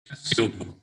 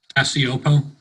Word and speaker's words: Cacioppo: Cacioppo. Say it again. Cacioppo. Cacioppo. Okay, I'm from Pennsylvania, so I can barely speak correctly. That's okay. My relatives in New York would say Cacioppo, so Cacioppo.